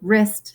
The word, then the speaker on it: wrist: So wrist starts with a W. We don't say the W, but it's something that twists and can turn and bend.